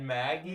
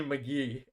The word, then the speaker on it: McGee: He just said Maggie. Maggie? Yo, there's no way. Well, that's crazy. My bad. That is obviously McGee. I don't. Magnolia State Meteorologist Jake just pronounced McGee as as Maggie, bro.